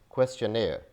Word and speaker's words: questionnaire: We pronounce it as questionnaire. So this is questionnaire. Questionnaire. We don't pronounce an R in the end.